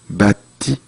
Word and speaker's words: bâti: au cours de notre histoire, au cours de notre histoire, nous avons bâti 아니죠. bâti. 약간 트 발음이 살짝 들려야 돼요.